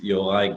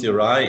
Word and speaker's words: Yorai: My name is Yorai. I always say that the easiest way to pronounce Yorai is your eye.